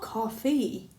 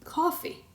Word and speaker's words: coffee: and you get coffee it's not coffee it should be coffee you're not stressing the correct syllable yes you are right coffee has two syllables cough and E and we should put